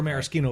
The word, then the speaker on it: maraschino: He's saying it the pretentious way. Maraschino. That's not how you usually say it.